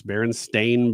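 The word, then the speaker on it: Berenstain: You remember the e because there is no e in it. It's Baron Stain Bears.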